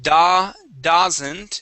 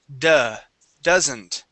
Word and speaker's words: doesn't: let's go to doesn't instead of Da doesn't it is duh doesn't doesn't okay very good